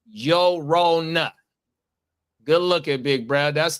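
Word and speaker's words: Llorona: The double L makes a Y sound in Spanish.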